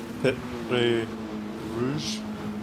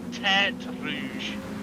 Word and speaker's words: Terre Rouge: It's called the S's, and then we go into the Pit Rouge. I think that's how you say it. Rouge. P-E-R-T-R-E Rouge. Oh, Terre Rouge. Yes. Terre. In French.